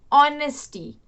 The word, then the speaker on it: honesty: Okay, see, the pronunciation of these two words is, we use H as silent, so we pronounce it honor, honest, honesty.